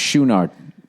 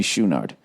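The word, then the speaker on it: Chouinard: the way his drummer I guess it's pronounced schunard Bobby schunard I'm reading through that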